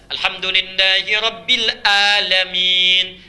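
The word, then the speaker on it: الحمد لله رب العالمين: Tuhan semesta alam Hai dibaca pakai Hamzah alhamdulillahirobbilalamin segala puji bagi Allah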